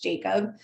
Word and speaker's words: Jakaub: Yes, I laugh because I have the H in my name and then my last name is pronounced Jacob.